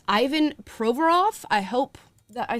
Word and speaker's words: Provorov: get this player's name right uh and not pronounce it improperly it's Ivan provorov I hope that I said that correctly he